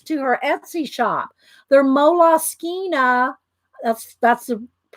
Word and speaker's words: Moleskine: They're Moleskine. That's the correct pronunciation. People call them moles, moleskins, moleskines, but I actually looked it up on their website once, and they pronounce it Moleskine.